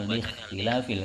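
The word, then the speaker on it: لاختلاف: I'rab huwa takhyiru awakhiril kalimi likhtilafil, membacanya likhtilafil karena ini adalah hamzahnya adalah hamzah wasol.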